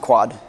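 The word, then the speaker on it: ⎕: before Unicode guys so the box is pronounced quad and it's it forms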